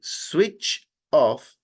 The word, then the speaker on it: switch off: Entonces, en lugar de decir switch off, haciendo una pausa, usted va a decir sui, y ese último sonido, el ch, no lo va a pronunciar allí, sino que lo va a pronunciar pegado a la siguiente palabra. En otras palabras, esto suena switch off.